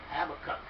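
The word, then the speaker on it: Habakkuk: love this guy's Habbakuk get the pronunciation right have a cup it was a honor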